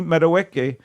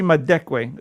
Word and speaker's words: Madekwe: Dad and newcomer Archie meadoweke my deckway I'm so sorry I was going to give you credit for pronouncing it correctly no Archie madekwe there's a missing consonant I'm sorry Mark I